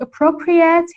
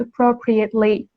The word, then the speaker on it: appropriate: somehow plagiarism okay but as an adjective and as an adverb it is pronounced appropriate and appropriately so if a company